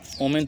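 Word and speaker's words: women: वोमेन तो हम लोग पढ़ते हैं, लेकिन जब ये बहुवचन हो जाता है तो इसका उच्चारण हो जाता है वीमेन।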